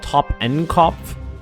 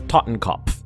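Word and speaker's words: Totenkopf: I always call it Toppenkopf. It's Tottenkopf. Pronouncing it incorrectly.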